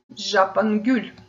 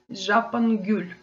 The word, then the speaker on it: жапонгүл: Гортензия, жапангюль. Гюль цветок, жапон японский. Гортензия, жапангюль. Жапангюль, гортензия, гюль цветок, жапон японский. Помним про ударение на последний слог.